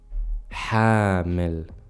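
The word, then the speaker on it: حامل: mashi Masha Masha the next one hamal he carried Hamel and then we have Hamill which means pregnant you see the confusion here so hamal he carried Hamill pregnant again this is because of the long vowels and the short vowels very important you pay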